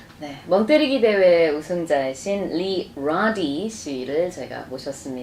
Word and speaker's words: Radde: I be pronouncing it it's actually rowdy rowdy yes but now it's it